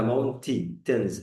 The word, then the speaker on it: mountains: طب السؤال هنا، كلمة mountains فيها حرف ما اتنطقش، اسمه إيه؟ حرف ال A، صح؟ قولها mountains، الآي اللي اتنطقت بس.